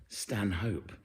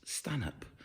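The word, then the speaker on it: Stanhope: uh lovely thomas's in stan up not stan hope those of us in the know now it's pronounced stan up so tonight another show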